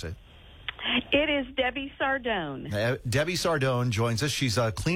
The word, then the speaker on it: Sardone: I don't want to mispronounce it. It is Debbie Sardone.